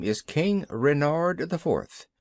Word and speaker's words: Renard: official name is King Renard IV Renard with the accent on the ren what's Ren asked button